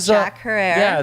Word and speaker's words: Jack Herer: I don't know her it is zacchara yes jack herer not jack her or herer or jack forever Herr